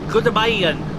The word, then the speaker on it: goedemorgen: And I believe the pronunciation it was Goedemorgen, which is Dutch for good day or good